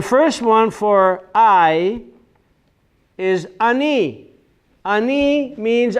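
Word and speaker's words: אני: So the first one for I is ani.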